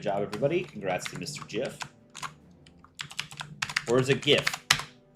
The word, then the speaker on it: GIF: Jif. Or is it gif? I've always pronounced it gif, which is how the creator wanted to pronounce it, how he does pronounce it.